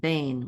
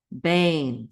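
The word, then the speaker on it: בֵּין: with the N feet Bane one syllable which means between Bane say that with me Bane between then we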